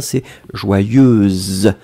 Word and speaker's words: joyeuse: Berilla, qui nous a mis le féminin, joyeuse. Alors, on le prononce, Berilla, on prononce un petit peu différemment. Hein. Si c'est le masculin, c'est joyeux, E-E-E à la fin. Si c'est le féminin, c'est joyeuse.